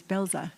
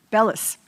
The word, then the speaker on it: Bellis: Uh Miss Belza, did I say it right? Bellis.